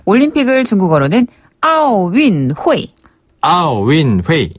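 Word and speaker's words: 奥运会: 네, 원래는 아오린피크 운동회 이렇게 좀 길지만 보통은 그냥 줄여서 중국인들도 아오윈회이라고 하거든요. 아오윈회이. 네. 그리고 윈회이는 운동회. 윈동회이를 줄여서 윈회이라고 해요. 비슷하네요. 운동회랑 네.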